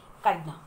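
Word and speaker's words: echidna: ई silent भी हो सकता है, काइडना।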